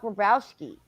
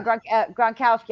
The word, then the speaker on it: Gronkowski: um what is going on with uh rob grobowski yeah gronkowski i keep saying his name wrong i'm sorry um oh he's retiring is